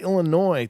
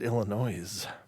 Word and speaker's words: Illinois: or is it Illinois's what's up with all the silent letters why even bother should ended that with i io I Noi done if you're not gonna say the s anyway get it out of there it's not paying the